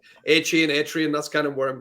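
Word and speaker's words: Achane: you go with Devin a chain is that how we pronounce his name I'm still a little behind on that yeah I think I think air chin seems Seems about right yeah he always reminds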